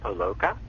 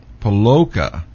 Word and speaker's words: Poloka: It's actually pronounced Poloka. Poloka.